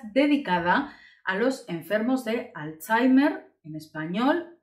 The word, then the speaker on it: alzhéimer: a los enfermos de alzheimer en español esta es la grafía y la pronunciación alzheimer es decir a personas